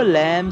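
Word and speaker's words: lamb: चीज और ध्यान रखेंगे लैम में जो बी है वह साइलेंट रहता है उसे पढ़ना नहीं है ये वर्ड हो जाता है एल ए एम बी को साइलेंट रखना है उसे पढ़ना नहीं है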